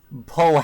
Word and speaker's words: Pohatu: going to sit down and actually try to pronounce what Radini is saying? Pohatu, Hatu. Onua, Gali, Tahu, Yeah. Lewa, and Kopak. Everything else is pretty okay, but Pohatu. It's not Lewa, it's Lewa. Pohatu. Yeah, the Pohato.